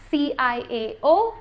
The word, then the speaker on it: ciao: of every episode well it's spelt c-i-a-o and it's ciao in italian it means bye